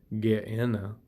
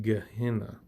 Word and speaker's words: Gehenna: It's pronounced Gehennah, but I guess in English we pronounce it Gehennah.